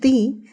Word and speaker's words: the: D it is pronounced thee before wall sums for example the oranges the umbrella and it is pronounced the before consonant sounds for example the buses the cows the laptop etc etc today we are